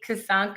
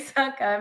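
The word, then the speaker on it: Csonka: Larry Kasanka, I'm saying his name wrong. I'm sorry. Larry Kasanka Sanka. Thank you. Larry Sanka, Mercury Murice, ran all over Buffalo's defense while Bill's QB Joe Ferguson was constantly battered.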